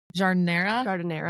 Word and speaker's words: jardinera: First off, I was wondering if you could explain to my listeners what jardinara is. Am I saying it right? Jardinera? Jardinera, yes. Like the air that we breathe, jardinera.